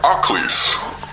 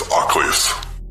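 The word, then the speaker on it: Achlis: this story she said they sounded like occluse and it's spelled a-c-h-l-i-s i looked it up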